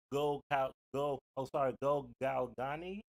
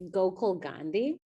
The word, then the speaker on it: Gokul Gandhi: Someone else says, listen, I appreciate Dr. Go Galgani. Sorry for butchering that name. Please pronunciate that name again for me. It's Gokul Gandhi.